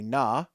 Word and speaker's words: Kna: A Na, pronounced N-A-H, is a aquatic humanoid well known for its strength.